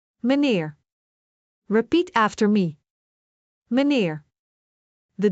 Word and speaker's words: meneer: A sounds like the E in bed, but sometimes it sounds like the E in the English word. The for example in the word manier which means mister. Let us break it down. Me neer. Meneer repeat after me.